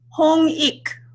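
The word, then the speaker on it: Hongik: h ong i k how do you pronounce that in korean hong eek eeeek this is a philosophy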